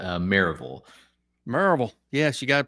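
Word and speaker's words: Maryville: of Knoxville in a little town called marville merille yes you got to pronounce it correctly right merille yeah how' you know I grew up in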